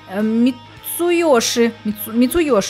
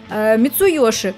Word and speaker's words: Мицуёши: Мицуёши. Вот хорошо, когда «ё» есть в их именах. Сразу понятно, где ударение. Мицуёши.